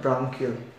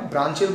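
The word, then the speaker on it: branchial: के द्वारा होता है उसे कहा जाता है ब्रांकियल। ब्रांच होती है ना, ब्रांच, वही तो उसे ब्रांकियल कहना, ब्रांचियल बोलना तो ब्रांचियल बोल लो, पर स्पेलिंग कुछ ऐसी होनी चाहिए इसकी, ठीक है।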